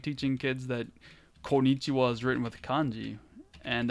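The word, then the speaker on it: こんにちは: and I was like, why does it keep saying kyowa? And the actual teacher, I won't say her name, but the actual teacher was like, that's konnichiwa.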